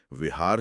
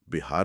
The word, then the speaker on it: बिहार: भाषाई प्रभाव के कारण विहार शब्द बिहार में तब्दील होने लगा। मतलब उनकी भाषा का असर था यह। हां। उनकी अपनी जुबान में व का उच्चारण ब की तरह करना अधिक सहज था।